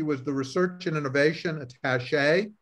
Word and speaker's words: attaché: Prior to this, she was the research and innovation attaché, which I should pronounce attaché en français, for the Quebec government